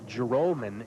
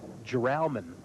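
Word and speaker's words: Joralmon: j o r al mo n that we pronounce it Gerome n' instead of jure almond which is how it appears that it should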